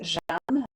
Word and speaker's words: Jeanne: Because I love in French, because I speak French, it's Jeanne, Geanne.